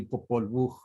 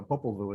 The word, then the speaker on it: Popol Vuh: The correct pronunciation would be Popol Vuh, but very few people can pronounce that. So Popol Vuh is fine.